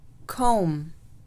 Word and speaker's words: comb: القاعدة الثانية: إذا جاء حرف الM يليه حرف الB في نهاية الكلمة فإن حرف الB لا يلفظ. حرف الB لا يلفظ. So for example, comb, comb, lamb, lamb, tomb, tomb, climb, climb, limb, limb.